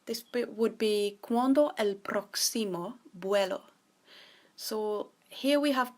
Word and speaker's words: próximo: To say when's the next flight, this would be ¿Cuándo el próximo vuelo? So here we have ¿cuándo?, which is when. El próximo. So remember to stress the O because it has an accent.